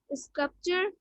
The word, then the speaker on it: sculpt: The P is not silent but is pronounced. Sculptor, sculpt. In all three words, the stress is on the first syllable.